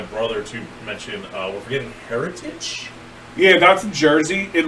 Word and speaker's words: Heritage: It's called Heritage, by the way, if you don't say it right. But it's literally, like, the word's heritage.